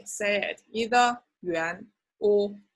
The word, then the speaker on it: 元: official document will be 元, rising tone, like what, 元. So they are the notes in China, 1, 10, 20, and 50. Okay, and there are 2 ways to say it, either 元 or 块.